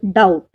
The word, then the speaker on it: doubt: For example, doubt. In this word, the letter B remains silent.